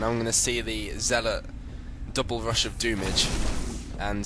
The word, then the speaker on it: zealot: lot of videos and people pronounce zealot as like uh god, how do they say zeot or zlot or whatever. It's zealot. Okay, dudes. If just in case you don't realize it's zealot anyway, cuz it kind